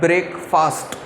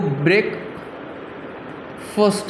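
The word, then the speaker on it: breakfast: इसको हम लोग बोलते हैं ब्रेकफास्ट, लेकिन इसका जो एक्चुअल प्रोनाउंसिएशन है वो ब्रेक फर्स्ट है।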